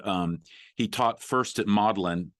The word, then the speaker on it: Magdalen: and english and um he taught first at maudlin it's pronounced i mean it's written like magdalene like mary magdalene but you pronounce it modeling and so he taught at model in college